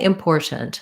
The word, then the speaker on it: important: we can say important i can do the t's but typically in connected speech native speakers don't what they do is they stop this first tea so you're going to say import put your tongue up for where the t is but don't let any t sound out import and then they're going to stop this t as well which